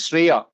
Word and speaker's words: Shreya: And she says, her name is Shreya, which rhymes with Priya.